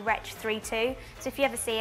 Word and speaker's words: Wretch 32: to say his name a lot of people call him wretch 32 but it's actually retch 3-2 so if you ever